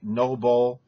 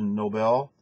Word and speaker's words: Nobel: You talked about the Nobel Peace Prize instead of Nobel.